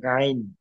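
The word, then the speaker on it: غين: গইন গইন গইন হুম গইন উচ্চারণ কোথায় থেকে বলেন গইন গলার মধ্যখানের জোড়া উপর থেকে গলার শেষ থেকে কণ্ঠনালীর শেষ থেকে গইন খ গইন গাইন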